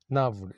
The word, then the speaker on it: gnawed: Navd, G silent this. Navd is the pronunciation.